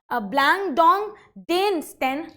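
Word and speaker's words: Blandongdiensten: meant that blank dong it how we are pronouncing it is blang dong Dan St system so with with this system actually they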